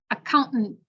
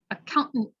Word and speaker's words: accountant: extra time botany button accountant accountant so that one's hard because it's a glottal stop and then a hell